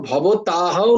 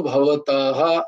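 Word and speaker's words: ভবতঃ: মানে তিনি বলছিলেন সেইভাবে আমি বলেছিলাম তো এটাও ভবতাহাও নয় এটা হচ্ছে ভবত বিসর্গত ভবতাহ এরকম উচ্চারণ হয় তো আমরা যদি কোন পুরুষকে বলি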